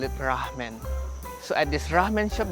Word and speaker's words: Rahmen: or should I say ramen? It is an interesting spelling because normally ramen is spelled with a dash, so you pronounce it ramen. But here they call it ramen.